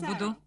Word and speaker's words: Буду: 76, я тоже буду. Буду, ударение на первый слог.